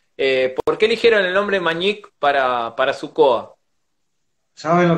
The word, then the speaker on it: Mañic: En vocablo Kom, ñandú significa, o sea, se pronuncia Mañic.